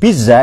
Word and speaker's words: pizza: Pizza itu cara bacanya pizza. Biar tahulah sedikit nama.